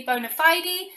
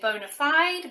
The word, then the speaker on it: bona fide: external applications number 15 can be pronounced in two ways the british way is usually bona fide and americans typically say bona fide but they mean the